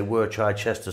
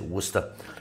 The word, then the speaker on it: Worcester: worcester sauce or as some of you say we're try chester sauce is you pronounce it worcester we're gonna add some black pepper to that